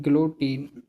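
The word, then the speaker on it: guillotine: पढ़ ही नहीं पाएंगे गलो टाइन पढ़ेंगे यो टीन पढ़ेंगे जल और टीन पढ़ेंगे लेकिन ज्यादातर लोग 70% लोग इसे नहीं पढ़ पाएंगे। यही मेन है प्रोनंसिएशन आनी चाहिए। यह है ग्लोटीन सिर कलम करना ग्लोटीन।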